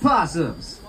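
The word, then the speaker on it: opossum: marsupial, those fabulous little possums. Yeah, I know the O is silent.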